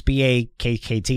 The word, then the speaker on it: Bakkt: I think I was calling it's Bach Exchange. It's BAKKT.